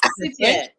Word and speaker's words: Buttigieg: It's boot E and then a G-E-G is how you Yeah, pronounce but that you don't pronounce the. It's like the I is kind of like silenced.